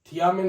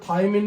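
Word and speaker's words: thiamine: विटामिन B1 का रासायनिक नाम, विटामिन B1 का रासायनिक नाम, ऐसे इसका प्रोनाउंसिएशन थियामिन होता है, लेकिन हम इसको थाइमिन भी लिखते हैं, इसको हम थाइमिन ये भी लिखते हैं, थाइमिन।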